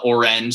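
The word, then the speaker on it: Oranj: that that's really cool orange it's spelled like the fall album uh orange so o-r-a-n-j um check out orange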